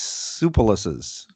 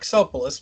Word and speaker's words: Tsoukalos: are some Alexander's or Alex sue pollicis did I pronounce that right try that's good try it's Alec tsoukalos but you know you